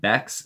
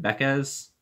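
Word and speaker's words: Backes: pack early this season I was pronouncing it David Beck's and a lot of people hated me for that so I think I'm pronouncing it right when I say David beca's which this is the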